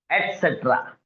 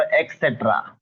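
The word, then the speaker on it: et cetera: एटसेट्रा, ATCETRA, एटसेट्रा. तो आप लोग इसको यूज करते हो एक्सेट्रा. नो, ऐसा आप प्रोनाउंस करते हो.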